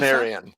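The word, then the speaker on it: Panarion: Is that how you pronounce panarian?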